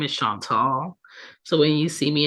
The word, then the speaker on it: Chantal: time pronouncing Sean tall c h n t a l not sha Paul not Chanel not Shantel okay it's shant tall I've been correcting people